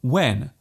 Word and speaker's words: when: There is actually no need to pronounce the h so strongly.